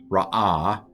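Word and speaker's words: רעה: Vayera el Yonah ra'ah gadolah. So this is not ra as in evil. This is ra'ah.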